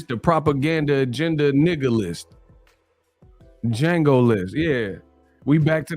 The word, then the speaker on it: Django: the propaganda nigga list django list yeah we back to the django list the d is silent this is the d